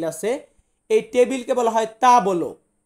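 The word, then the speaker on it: tavolo: এই টেবিলকে বলা হয় তা বলো। তা বলো, বা অনেকে আমরা এমনটা উচ্চারণ করি তা বলো, সে একই, মানেটা একই, মুখ দিয়ে বেরোলে এমনটাই সাউন্ড বের হয় যে তা বলো।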